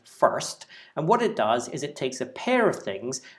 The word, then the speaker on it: fst: It's usually pronounced first, and what it does